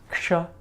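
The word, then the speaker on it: क्ष: So it's like a k sound with so it's like this k right here, right? Plus that sh sound we just made. That's one of the sibilants we just made a while ago, right? So this is a k and a sh. So you're putting them together and you're making a ksha.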